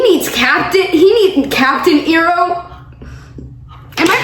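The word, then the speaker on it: Iroh: Iro. Oh, Uncle Ro.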